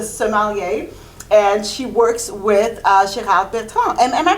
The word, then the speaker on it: Gérard Bertrand: And she works with Gérard Bertrand. Am I pronouncing that right?